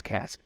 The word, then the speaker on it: Kass: I know it's Kass. And Gabe Kass. I didn't know his place. I've always just seen this spelled.